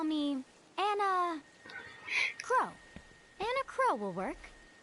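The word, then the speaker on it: Enna Kros: You can call me Anna Crow. Anna Crow will work. Anna Crow. S is silent, apparently. Okay, well, we woke up to a ghost town this morning.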